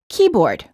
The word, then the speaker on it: keyboard: pronounced as credit card in compound nouns the first word is stressed and the two words are said together with no pausing in between the words key and board is pronounced as keyboard note compound nouns can